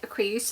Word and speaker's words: Creusa: So one night Creusa, I think is how you say it.